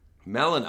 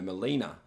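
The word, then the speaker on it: Melina: from beyond the fog i am melaner melano i've been calling her molina i've been saying it wrong oh what's wrong with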